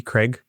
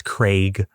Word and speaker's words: Craig: And Daniel Craig is on Stephen Colbert, and he underscores him that he mispronounces his name. They call him, in America, we call him Daniel Craig, like C-R-E-G, Craig. He's like, it's Craig.